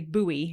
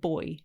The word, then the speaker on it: buoy: when I'm saying it you know how Americans say buoy instead of boy do they yeah I